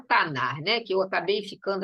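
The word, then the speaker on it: Tanakh: Então, esse Tanar, que se pronuncia assim mesmo, Tanar, ele, na verdade, é uma sigla.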